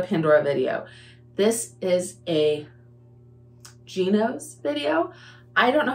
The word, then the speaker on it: Gnoce: pronounces it different but one of the girls that I watch pronounces It Gos that is the easiest way to pronounce it that I can hear and think of so that's what we're